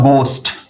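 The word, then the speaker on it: ghost: इसको क्या पढ़ते हो आप इसको पढ़ते हो आप गोस्ट क्या पढ़ते हो गोस्ट पढ़ते हो ना इसको आप घा नहीं पढ़ते हो क्यों क्योंकि इंग्लिश लैंग्वेज में घ नहीं होता जो कि हम आपको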